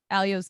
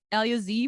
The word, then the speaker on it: Elyose: Alias alios I mean Alia Z would be in German I guess or or yeah each country has its own way to pronounce it there's not one good way of saying it so okay okay um